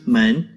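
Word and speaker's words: 门: of the most commonly used chinese characters it's pronounced men it means dor were you able to find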